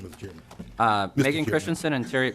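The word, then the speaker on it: Christianson: your testimony thank you Mr chairman uh Megan Christensen and Terry M Megan Christensen and Terry Matson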